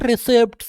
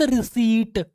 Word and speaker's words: receipt: काफी सारे आते हैं बच्चे बोलने के लिए, नो इट्स नॉट रिसिप्ट, इट्स रिसीट। देख लो हिंदी में लिखा हुआ है।